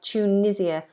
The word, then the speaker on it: Tunisia: people in the UK we have Tunisia ch make it like a CH Tunisia Tunisia um yes turkey Tunisia completely different opening sounds T turkey Tunisia it's